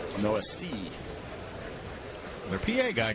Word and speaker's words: Noesi: Noesi gets ahead, no balls and one strike. Trying to train myself, but no Essie. There's no S. And then there's an E at the very end. Noesi.